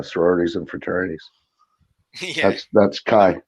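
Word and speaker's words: chi: pointing at that one kai kai because because some people tell me it should be pronounced key yeah yeah i i pronounce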